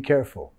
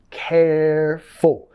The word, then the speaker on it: careful: Be careful. Nota la acentuación. Careful. Vamos a enfatizar la primera sílaba ahí.